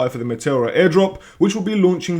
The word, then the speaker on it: Meteora: I'm going to call it Meteora because I'm Greek and that is just what sounds right to me. However, you could pronounce it Meteora, Meteora, however you want to pronounce it, it's up to you.